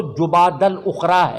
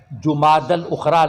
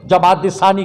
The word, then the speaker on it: جمادی الاخری: کرام کے موجودگی میں یہ اس کا اصل تلفظ تو جمادی الاخری ہے، جمادی الاخری، لیکن غلط العام میں جمادی الثانی کہتی ہیں۔ 22 جمادی الثانی اس